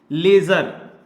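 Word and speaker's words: ledger: classifying को एक chapter का नाम भी दिया गया है लेजर एल ए डी जी ई आर लेजर जिसमें कि डी हमारा क्या होता है साइलेंट होता है और ये हमारा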